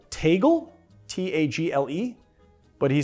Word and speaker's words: Tagle: It's spelled Tagle, T-A-G-L-E, but he says it's pronounced Tagle.